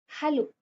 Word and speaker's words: Hallo: अब जैसे हेलो, English में हेलो को हम जर्मन में क्या बोलेंगे? Simple, हालो। ए is pronounced as आ, ये हमने पिछले लेक्चर में पढ़ा था।